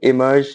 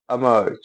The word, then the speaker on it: emerge: इसको अगर हम हिंदी प्रोनाउंसिएशन में बोलेंगे एज a Indian English pronunciation, तो हम इमर्ज बोलेंगे, इमर्ज, इमर्ज, ठीक है। जनरली अगर आप देखोगे तो अमर्ज, अमर्ज, अमर्ज, अमर्ज, ठीक है। अमर्ज, अमर्ज, अमर्ज भी बोलेंगे, अमर्ज भी बोलेंगे।